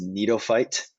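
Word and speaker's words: Gnetophyte: just subdivisions of gymnosperms cycads and this one's pronounced neatophyte so these are all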